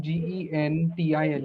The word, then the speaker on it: gentil: time when you put GENTILE, it will become gentile. You don't say gentiles, right? Gentil, yes. So Yeah. here in French, you will find this is GE is pronounced je also, right?